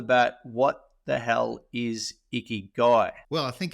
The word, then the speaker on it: Ikigai: coach mate is that how I say it iy guy that's how you say it well done Trev